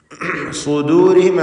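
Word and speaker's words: صدورهم: സുദൂരിഹിം എന്ന പദം ശ്രദ്ധിക്കുക. സ്വാദിന് മാത്രമാണ് തഫ്ഖീം കൊടുക്കേണ്ടത്. ശേഷം ദാല് തർക്കീഖിൻ്റെ അക്ഷരമാണ്. ഇവിടെ ദു എന്നത് ദൂന്ന് ത്വാദ് പോലെ ആയി പോകുന്നത് വളരെ സാധ്യതയുള്ളൊരു കാര്യമാണ്, സൂക്ഷിക്കേണ്ടതാണ്, തെറ്റാണ്.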